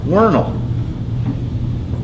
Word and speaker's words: Worminghall: a town a village whose name is still officially worming home and they do actually locally pronounce it vernal because he says villages